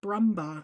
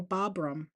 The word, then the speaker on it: Bruma: Although I do like Kim McGillis and um Cindy I always want to pronounce her last name wrong. Bruma. I want to go Babram. Nope. Nope. Nope.